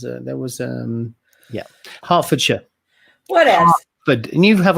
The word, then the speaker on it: Hertfordshire: like to for anybody interested in the correct pronunciation of the county it's hertfordshire or if you're posh it's just half a shot yeah now yes there was a there was um yeah hertfordshire what else but you have a hartford connecticut